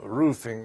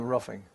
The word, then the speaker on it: Ruffing: ruffing r-u-f-f-i-n-g but in Germany where my family come from they had a umlaut over the U H and my father said they pronounce it with a roofing you know but they